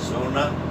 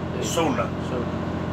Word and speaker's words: sonar: D and E and Sona Hey how you pronounce it so so not a soda okay sona is basically on